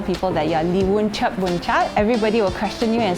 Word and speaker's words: Churdboonchart: My surname is Churdboonchart. So a lot of people call me. They can't pronounce it properly. They call it.